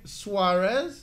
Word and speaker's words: Suarez: How do you Suarez? That's it. How you pronounce it?